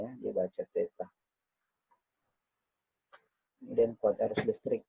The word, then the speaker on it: theta: Untuk suhu ya dimensinya theta, ini bacanya ya, dibaca theta.